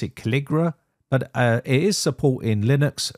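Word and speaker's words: Calligra: I think you pronounce it Caligra, but it is supporting Linux, free BSD, Windows, and Mac OS.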